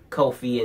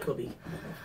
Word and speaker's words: Kofi: the contract signed between Kofi and Daniel Bryan for the championship match at Fastlane. I hope Kofi beats Daniel Bryan. Oh, yeah. Because I like Kobe. Did you just say Kobe? It's Kofi.